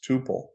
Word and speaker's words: tuple: double P it would be Tuple but it's Tuple it's pronounced Tuple and a tuple is a complete